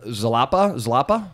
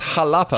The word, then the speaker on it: Xalapa: Because it is related to the word jalapeno. Yeah. So you see the X, and I think I pronounce it with Z. Yeah, they put an X right there. Like a Spanish is X and J is interchangeable.